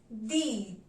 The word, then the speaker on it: dix: Number 10 will be pronounced as dees. Dees. So let's begin with 6 to 10 numbers once again. 6 C, 7 sept, 8 huit, 9 neuf, 10 dip. 10 is pronounced as dees.